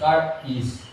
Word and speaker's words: charis: Yun pong ibig sabihin ang spelling po nito charis c h a r i s Pero kung So kung i-pronounce car is ganon so Mga kapatid